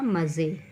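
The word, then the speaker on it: मज़े: पर क्या लिखा है मजे और जब हम नुक्ता लगाएंगे तो क्या बन जाएगा मजे हजार और जब नुक्ता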